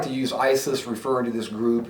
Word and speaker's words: ISIS: our Iraq and Syria plus it rhymes with crisis so you can say the ISIS crisis but at any rate